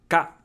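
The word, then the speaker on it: か: Ka. How to pronounce ka? Ka is just the K sound plus a, making a ka sound. It's pronounced like ka in karma.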